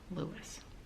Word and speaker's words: Louis: Lewis. Let's listen to that again. Robert Louis Stevenson. How did Robert Louis Stevenson pronounce his name? RLS was known as Lewis after his maternal grandfather, the Reverend Dr.